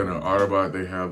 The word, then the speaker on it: Rabat: It looks like it's pronounced rabbit, but it's actually Arabat.